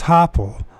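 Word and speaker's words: Hoppál: Hopel, let's see if I pronounce his name right. Hoppel. So it's Hoppel.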